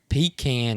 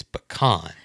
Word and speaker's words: pecan: into anybody that says no pete can is not the right way to say it it's pecan but you don't pecan